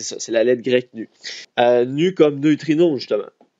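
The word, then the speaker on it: ν: c'est en fait c'est la lettre grec nu ça se prononce nu donc c'est l'équivalent c'est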